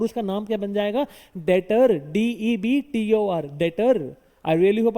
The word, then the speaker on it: debtor: डेटर। क्या बुलाते हैं उसको? डेटर। अच्छा, लिखते लिखते डेबिटर है पर बुलाते डेटर है।